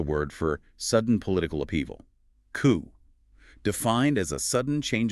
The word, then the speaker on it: coup: The silent letters here are just so glaring. A final P and an E. Exactly. Straight from the French. The final two letters are completely silent, leaving a single closed off vowel sound. C. Ooh. The difficulty arises if the speaker tries to angllicize it, maybe sounding out the P.